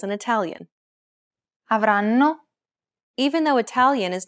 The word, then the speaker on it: avranno: Compare this once again to the syllables in Italian. Avranno.